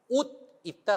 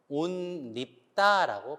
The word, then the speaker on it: 옷 입다: 유음화라든지 띄어쓰기가 있어도 자 옷 입다 같은 경우를 옷 입다라고 발음하는 사람도 있고요 온 밉다라고 발음하는 경우도 있어요 그 경우는 굉장히 붙여서